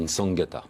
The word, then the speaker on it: Nsangata: Alors, on ne prononce pas le N, en fait, on dit Nsangata.